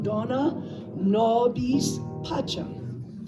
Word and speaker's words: Dona nobis pacem: Put a little tiny bit more weight on the first syllable of each word. Just a slight more weight. So Dona, like that.